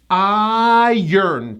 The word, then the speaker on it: iron: It's a 2-syllable word, and the first syllable gets the stress. This is one of the only times in English we do not push the R. It's a very unusual pronunciation. We say it like this. Iron, 2 syllables. Iron. There's a hidden Y, and the R comes after the vowel.